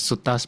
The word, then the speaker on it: sutta: So technically it's pronounced as suttas, but same thing.